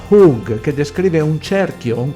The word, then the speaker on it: chuwg: La parola cerchio in questo versetto è tradotta dalla parola ebraica chug, pronunciata hug, che descrive un cerchio, un compasso.